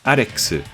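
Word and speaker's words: アレックス: Pronounced in Japanese, his name reads Arexu, close to Dexu, or Rex.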